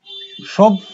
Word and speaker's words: সভ্য: কি হলো এখানে একটা ত আছে, তার সঙ্গে জফলা যুক্ত আছে, কিন্তু উচ্চারণ কি হলো ত দ্বিত্ব হলো, দুবার উচ্চারিত হলো। একইভাবে সভ্য কি হবে সভ্য, দুবার উচ্চারিত হয়েছে।